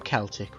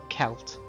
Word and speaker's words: Celt: How I do, Celt, with a hard C, or as some others do, Celt, with a soft C.